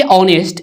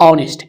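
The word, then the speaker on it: honest: तो यहां पे देखिए ऑनेस्ट यहां पे जो है शुरुआत है एच से जो कि एक कंसोनेंट है लेकिन उच्चारण इसका ओ से हो रहा है ऑनेस्ट एच जो है यहां पे साइलेंट है और उच्चारण जो हो रहा है ओ से जो कि एक वल है तो यहां पे एन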